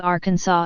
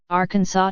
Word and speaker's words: Arkansas: in three three syllables with the final s silent the a in each syllable with the Italian sound and the accent on